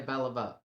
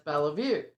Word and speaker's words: Beliveau: Some Southerners told her that no, she was pronouncing her name wrong, and it's Bellevue.